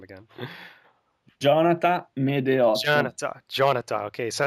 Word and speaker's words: Gionata Medeot: Jonathan Medeot. Jonathan. Okay, so it's got Uh, that nice accent in there, which is pretty Yeah, cool. it's like Jonathan, but without the N at the end.